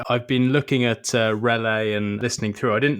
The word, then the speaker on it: Relai: i've been looking at relay for some time actually or is it relay you pronounce it relay okay but yeah it's um